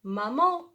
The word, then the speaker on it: maman: Maman, maman. Ma, on a étudié pardon, A-N, elle se prononce en, d'accord?